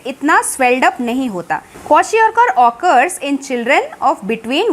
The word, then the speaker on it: kwashiorkor: है वो होता है क्वाशियोरकर। सी the spelling KWA क्वा SHI शी OR और KAR कार, क्वाशियोरकर। The deficiency of proteins in the diet of small children specially causes a disease called kwashiorkor।